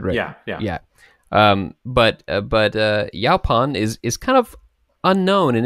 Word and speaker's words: Yaupon: You might say Yaupon, but I've heard it mostly pronounced Yaupon holly.